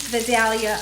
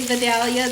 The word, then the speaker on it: Vidalia: Sweet Vidalia onion is the way to go. I know I have someone that always likes to correct the way I say Vidalia.